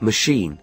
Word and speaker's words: machine: The word machine is stressed on the second syllable.